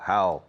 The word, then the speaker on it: how: Fijaos en la pronunciación con how. How. How are you? How do you do? How many? How much? How often? How long? How far? How easy? How difficult? How. How. How. Jauja. How.